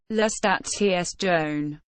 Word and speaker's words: La Stazione: Italian pronunciation: La Stazione.